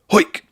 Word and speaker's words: Heuck: His last name is spelled Heuck, and to help me remember how to pronounce it, I think, what would a Cockney quarterback say? Heuck!